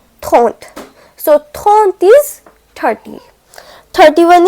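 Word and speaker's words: trente: So how 30 can be pronounced? Taunt. Taunt. Taunt.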